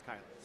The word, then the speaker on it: Kylan: I called him Keelan for a while, and then I heard it's Kylan.